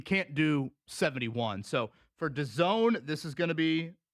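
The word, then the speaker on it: DAZN: You're going to download the Done app. And to spell it, go ahead. D A ZN pronounced Done.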